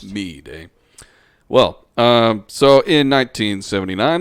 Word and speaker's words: Meade: fort meade in maryland is it mead it's m-e-a-d-e is it is it meat or midday no it's fort meade that's how i've always heard it pronounced me day well um so in